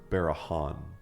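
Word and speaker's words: Beregond: It's pronounced Barahan. Hanberry Han, baby.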